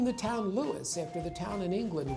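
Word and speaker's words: Lewes: And we've been Lewis, two syllables ever since.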